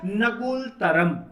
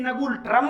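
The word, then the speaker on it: Ngultrum: भूटान की करेंसी है नगुल तरम। याद रखेंगे, आप हिंदी में इसे नगुल ट्रम भी कह सकते हो।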